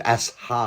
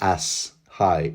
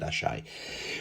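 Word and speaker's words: Asshai: as as ashai as I'm not going to pronounce it as high hi right no it's not as high it's Ashi yeah a lot of other commentators pronounce it asai which is this mysterious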